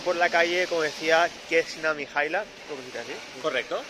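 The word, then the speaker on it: Kneza Mihaila: Y estamos yendo por la calle, como decía, Kesna Mihaila.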